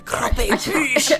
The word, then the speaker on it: croquembouche: It's the croquembouche. The croquembouche. I just had to say it like that. That's the true French way.